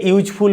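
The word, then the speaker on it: useful: যখন ইউজফুল উচ্চারণ করছি তখন কেমন উচ্চারণ হচ্ছে YU, কি দিয়ে উচ্চারণটা শুরু হচ্ছে ওয়াই দিয়ে, YU ইউজফুল। সেক্ষেত্রে অনেকটা কনসোনেন্ট সাউন্ড চলে আসছে আর ভয়েলের মতো উচ্চারণ হচ্ছে না।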